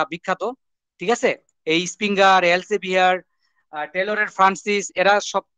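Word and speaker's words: Elsevier: এটা আসলে এলসেভিয়ার, উচ্চারণটা হলো এলসেভিয়ার। আমরা এলসভিআর বলে ফেলি আর কি সংক্ষিপ্ত ভাবে। এলজেভিয়ার, এলজেভিয়ার, ঠিক আছে।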